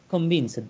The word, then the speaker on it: convinced: I'm not convinced yet whether this Not, model. just a moment. You need to pronounce this word convinced, like first, Okay, last, convinced.